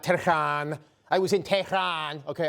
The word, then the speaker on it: Tehran: Okay, just before we get to that, it's just Tehran. It's not Tehran.